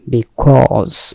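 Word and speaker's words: because: বিকজ কে অনেক সময় বলা খোঁজ বলি, এখানে জ আছে উচ্চারণ খেয়াল করবেন, বিকজ, বিকজ মানে হচ্ছে কারণ, সে কারণে, সেহেতু, কারণ, হেতু, যুক্তি, উদ্দেশ্য।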